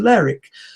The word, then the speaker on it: Lerwick: So I went to the ticket office in Aberdeen, and I thought, well, most towns in English that end in W-I-C-K, Wick, are not pronounced Wick, are pronounced Ick.